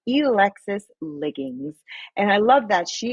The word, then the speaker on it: Elexus Liggins: It's Elexus Liggins.